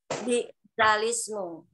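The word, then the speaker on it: بئس الاسم: Bi'salismu. Iya, tulisannya bi'sal ismu, bacanya bi'salismu, seperti itu nggih.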